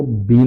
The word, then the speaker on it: been: Past participle है वो बीन हो जाता है, B double N बीन, बट इट is pronounced as बेन।